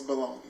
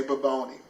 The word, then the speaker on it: bologna: I started cooking was bologna. You know, and I couldn't even pronounce it. That's how young I was. I would say baboni. Baboni.